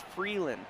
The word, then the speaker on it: Freeland: So it's Freeland. My bad. Yeah, see. I knew I pronounced it wrong earlier.